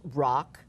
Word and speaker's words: Rach: One is rock, R-A-C-H, pronounced rock, played by Gabriel Ebert, who won his Tony in Matilda, as the father, and some other characters.